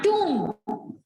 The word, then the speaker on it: tomb: हाँ, tomb। B is silent। B is silent in tomb।